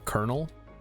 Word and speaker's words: colonel: Or letters that are pronounced weirdly, like in kernel. Sector scan. It's like it's clearly written colonel for whatever reason. Why are we saying kernel?